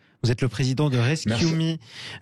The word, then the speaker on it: ResQme: Laurent Colas, vous êtes le président de Rescue.me, R-E-S-Q-M-E, prononcé à l'anglaise, ça veut dire Rescue.me, sauvez-moi ou sauve-moi.